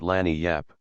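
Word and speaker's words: lagniappe: to get a nice limber expressive handy word land Yap they pronounce it Lan Yap it is Spanish so they said we discovered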